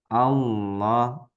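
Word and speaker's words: الله: Misalkan tadi Allah. Nah, jadi cara membacanya menyerupai huruf O mulut kita, Bu. Nah, kalau ini cara bacanya normal atau menyerupai huruf I. Nah, Allah, Allah, ilah, ilah, Allah, Allah, ilah, ilah.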